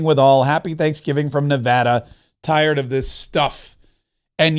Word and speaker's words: Nevada: Happy Thanksgiving from Nevada. Tired of this stuff." And yes, it's Nevada.